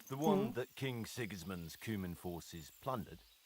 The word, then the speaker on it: Sigismund: who side with King Sigismund. Sigismund. Okay, that's how it's said.